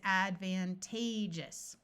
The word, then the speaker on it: advantageous: have advantage disadvantage advantageous notice that when we add the US this a takes on a long a sound let me point that out again we have Advantage versus advantageous disadvantaged here's our root